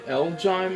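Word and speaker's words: Elgyem: Elgyme, I think is the way you pronounce its name.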